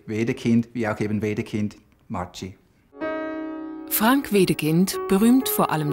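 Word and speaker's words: Maggi: Jahrhunderts in kemtal gebaut der Firmenname wird historisch richtig italienisch mai ausgesprochen denn die Gründerfamilie stammt aus Norditalien bis heute ist die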